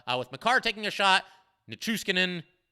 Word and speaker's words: Nichushkin: Makar taking a shot, Nichushkin, I always struggle with that. I always try to add an extra syllable to his name for some reason.